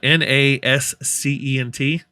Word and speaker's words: nascent: uh is that a word how do you pronounce that n-a-s-c-e-n-t nate nascent is that like important nascent okay